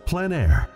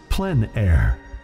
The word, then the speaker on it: plein air: we cover the world of outdoor painting called plein air the French coined the term which means open air or outdoors the French pronounce it plenn air others say plein air no matter how you